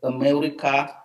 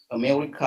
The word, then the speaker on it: America: most of the time we tend to pronounce the first a like ah whereas just america um something like according according to me america and so on and